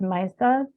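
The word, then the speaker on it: Meissa: start up here uh called I think it's pronounced maisa which kind of represents the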